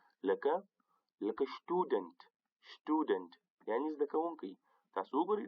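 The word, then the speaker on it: Student: یو بل مرکب توری هغه دا چې د اس مخته که همیشه پی یا ټی راسي په الماني ژبه کې، یا پی راسي یا ټی راسي، هغه همیشه په شین تلفظ کېږي. لکه شټودنټ یعنې زده کوونکی.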